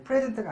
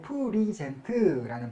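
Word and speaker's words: present: 이 특별히 또 동사가 될 때에는 발음이 좀 바뀌어서 이제 프레젠트가 아니고 프리젠트라는 발음으로 좀 바뀌긴 해요.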